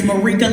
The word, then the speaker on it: Marika: It's Marika like paprika, Marika like paprika.